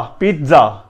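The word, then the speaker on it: pizza: نہ ہی پیزا ہے اور نہ ہی پیزا ہے, بلکہ کیا ہے, پی double E T, Peeth, Z double A زا, پیتزا, پیتزا.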